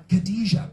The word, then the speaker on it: Khadija: Khadija, brilliant, that rhymes with nothing. Khadija, it doesn't, I'm joking, Khadija. Brilliant, 3 syllables, got it.